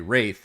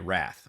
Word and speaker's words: wraith: hours and he uh as classic Chris does he very pointedly kept mispronouncing uh one of the creatures on his army uh was a wraith and he literally always called it a wrath which granted still sounds